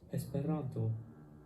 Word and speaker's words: Esperanto: in this word so there are four syllables and the accented syllable is always the second to last syllable so this is pronounced esperanto now it's your turn